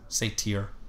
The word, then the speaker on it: satyr: He'll just be saying, right, no, you've been adding an extra syllable. Satyr? I've been saying Satyr, haven't I? Nice night, no. Satyr. It's not an extra syllable, but it's an extra, like, vowel sound, I guess.